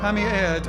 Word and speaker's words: Pammy Ed: Pammy Ed, I assume. Like air with a D.